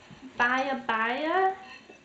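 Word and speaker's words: berbere: in some of this baya baya. I hope I'm pronouncing that okay. That's what it said on the internet to say, but it's pronounced like bearberry, B-E-R-B-E-R-E.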